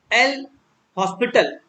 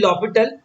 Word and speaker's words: L'Hôpital: Let's have a small discussion about L hospital. It is actually l'hôpital, but हम लोग प्यार से कहते हैं उसको L hospital rule. लिख दो L hospital rule. It is pronounced as l'hôpital, है ना, l'hôpital.